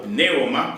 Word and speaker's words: pneuma: mesma no Novo Testamento, que é pneuma, ou pneuma, como alguns pronunciam, que é traduzido como vento, ar, mas que significa espírito.